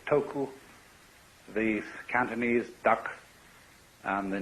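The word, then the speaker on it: 徳: of this word uh the Japanese pronounce it toku these Cantonese duck and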